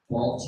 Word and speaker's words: Balch: Balch, it rhymes with mulch.